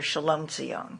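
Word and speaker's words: Shlomtzion: Alexandra salame Alexandra but Jewish people called her shalom cion shalom how did you first learn about her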